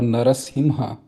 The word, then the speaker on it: Narasimha: The one question I had was that you said the correct pronunciation is nasimha or narasimha.